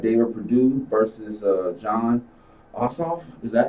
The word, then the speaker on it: Ossoff: then we got david perdue versus uh john ossoff is that how you pronounce it yeah okay i didn't i'm sorry